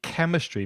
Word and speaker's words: chemistry: your region, physics, biology, chemistry. Be careful of the pronunciation of that hard K at the beginning of chemistry, and also the F of physics, geography, history, IT, information technology, economics, religion, and sports.